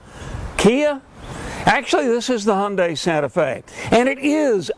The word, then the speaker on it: Hyundai: to say their name it rhymes with Sunday the sign said and the vehicle on